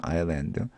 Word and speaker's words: island: 여기서는 S가 묵음이죠. 아일랜드.